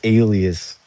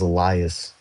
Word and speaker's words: alias: I used to pronounce that word as Elias, and people would make fun of me in the Iceberg video comments because I had no clue I was pronouncing it that way for years and didn't realize it was wrong.